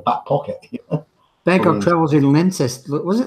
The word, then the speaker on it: Leicester: Bangkok travels in Leicester.